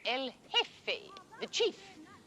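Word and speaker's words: jefe: Franco is called el he the chief g f e the J is silent L hey he is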